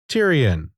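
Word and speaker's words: Tyrian: vertical scrolling shooters until games like Tyrion, pronounced Tyrion, as Ancient DOS Games show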